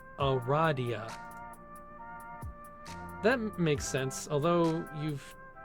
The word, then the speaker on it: Aradia: loud because she immediately corrects you it is pronounced o radhiya that makes sense although you've just met you